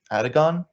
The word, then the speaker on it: Atagun: cannot I can understand so my name is Aragon t--g-u-n sometimes I go with ATA how can people not pronounce that one that one's simple as hell